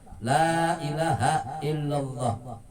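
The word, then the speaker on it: لا إله إلا الله: telah lazim an-nafs mangkola Lailahaillallah ini sesungguhnya barangsiapa yang mengucapkan kalimat La Ilaha Illallah Hai Muhammad Graha Hai kalimat Lailahaillallah malam alifnya bacanya dipanjangin Wow Adha La Ilaha Illallah muhammadarrasulullah wachs panjangin lam alifnya hal tamatlah muadzin dan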